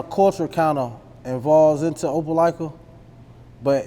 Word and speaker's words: Opelika: And how would you say Atlanta compares back home to Opelika, Alabama? I said it wrong again. Nah, you said it right. That's it. That Opelika, man.